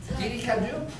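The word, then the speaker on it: Didi Kuaidi: But the name of the company is Didi Kaudai, is that how it's pronounced? Didi Kaudu?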